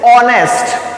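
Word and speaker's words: honest: ऑनेस्ट बट जो हमारा यहां पे जब हम इसको प्रोनेंस करते हैं तो इट is pronounced as ऑनेस्ट ऑनेस्ट pronounce करके देखिए ऑनेस्ट ओ का साउंड आ रहा है इसलिए यहां पर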